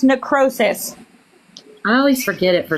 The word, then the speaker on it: necrosis: It's pronounced necrosis.